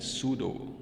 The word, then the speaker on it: pseudo: Now, sumo S starts with the spelling of sumo is S-U-M-O, whereas pseudo is, it starts with P, where P has no business of being in that word because P is absolutely silent.